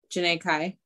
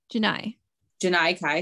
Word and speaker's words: Janai Kai: The next match, Tootie Lynn, Janae Kai. Janai Kai, sorry. It rhymes. That's the only way I remember is because it rhymes.